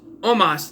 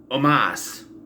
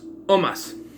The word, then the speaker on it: Omos: And it is Omos, not Omas. Omos. Say it right or don't say it at all, right? I hear people keep saying Omas. It's Omos.